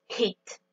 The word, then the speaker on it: hit: Pour bien prononcer le verbe frapper en anglais et bien prononcer le H, on va devoir aspirer le H, ce qui va nous donner hit.